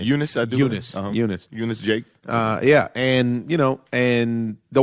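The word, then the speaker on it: Junis: the kid that almost threw the no-hitter yesterday, Junice. Junice? How do you say his name? Eunice, I do. Eunice.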